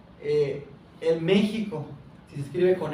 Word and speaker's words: México: lo escribían con J, pero tenía ese sonido sh. Por eso cuando llegan acá y dicen, escuchan que México, se pronunciaba México, los españoles ah, lo escriben con X, otros lo escriben con